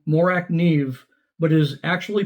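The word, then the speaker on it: Morakniv: and stop listening to Blade HQ salespeople it's pronounced morak Neeve and here's the CEO of morac Neeve pronouncing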